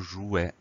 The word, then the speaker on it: jouet: Donc, on a ce T qui permet d'avoir le son est, mais qu'on n'entend pas. Jouet, J-O-U-E-T. On fait attention à ça, E-T à la fin. Le mot jouet, c'est un nom masculin.